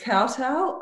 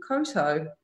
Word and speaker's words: Kowtow: the most common question is how do you pronounce the name of the brand so it actually is cartel I just really wrong you know when I was researching named for the brand and I said Cotto because I've never heard of the word and